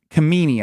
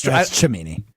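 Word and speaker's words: Cimini: This is per Rich Camini, I believe. Did I say that right? Help me, Stro. Yeah, you said it right. No, it's Chimini.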